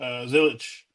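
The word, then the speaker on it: Zilisch: Zilich, am I pronouncing that right?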